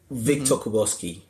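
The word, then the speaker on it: Viktor Kubowski: So it's at Victor Kuboski, and the Victor is spelled with a K, VIK. Yeah. TOR, and then Kuboski is KUBOWSKI.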